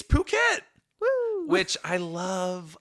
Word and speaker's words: Phuket: I love how Phuket is written because if you just read it phonetically, it's ph. I've been spelling a lot this episode. You have. And if you read that, what sound does a ph make? Does it make poo?